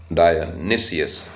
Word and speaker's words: Dionysius: It's written, the spelling is Dionys, and its pronunciation is Dionysius. Dionysius. Looking at it, normally we would say Dionysius, but it says Dionysius.